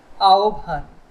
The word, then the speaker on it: আহ্বান: আহ্বান, আ ও ভান।